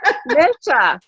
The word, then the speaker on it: Misha: Misha. Can you hear me? Yes. Okay, good. It's Misha, like you missed me.